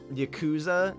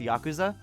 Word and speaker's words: Yakuza: again uh it's like anytime someone says uh Yakuza in conversation I'll default to that pronunciation even though I know it's pronounced Yakuza it's it's weird it's funny